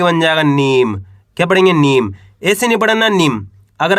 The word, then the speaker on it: नीम: है माली प में आ की मात्रा प न में बड़ी ई की मात्रा नी तो मिलके बन जाएगा पानी न में बड़ी ई की मात्रा नी म तो मिलके बन जाएगा नीम क्या पढ़ेंगे नीम ऐसे नहीं पढ़ना नीम अगर आप नीम पढ़